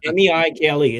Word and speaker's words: Meikle: See, notice on the screen, it's M-E-I-K-L-E. It's Gaelic for large amount.